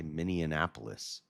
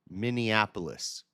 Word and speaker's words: Minneapolis: I always add an extra N in there. I say Minianapolis. That's not how you say it. There's only one. There's two N's. Minneapolis.